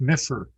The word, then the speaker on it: MFR: And Donnie comments, MFR, pronounced Miffer.